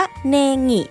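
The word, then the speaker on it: ねぎ: สงบ สุข เพราะ ว่า ต้น หอม ใน ภาษา ญี่ปุ่น เนี่ย ออก เสียง ว่า เนงิ ซึ่ง ใกล้ เคียง กับ คำ ว่า เนงู่ ที่ แปล ว่า การ มี จิต ใจ ที่ สงบ นั่น เอง โห อย่าง นี้ ถ้า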